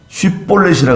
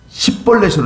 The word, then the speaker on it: 쉬볼렛: 에브라임 사람은 쉬 발음이 안 돼요. 쉬 있잖아요. 쉬 발음이 안 돼요. 쉬를 시로 이제 발음하는 거예요. 쉬볼렛이 안 돼요. 쉬볼렛이라 그래야 되는데, 십볼렛으로 되는 거예요.